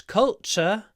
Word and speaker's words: culture: we learn about British culture in our English lessons so Cultura culture remember the ending t r e is usually pronounced CH or it could be like that ch ch cult culture culture